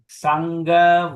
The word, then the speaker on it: Saṅgha: Saṅgha Vandanā. Okay. Okay, the word is Saṅgha. N with the dot is NG. So the word is S-A-N-G, Sang. G-H-A, Gha.